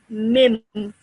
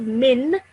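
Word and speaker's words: مِن: So you would pronounce it as mim. Mim. Yes. So instead of min, you're saying mim.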